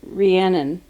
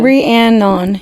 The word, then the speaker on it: Rhiannon: Am I saying it right now? I feel like I got to go back and look at the REE-ANN-NIN. Yeah. Rhiannon. That's like to say it phonetically correct. So Rhiannon. Rhiannon. Yeah.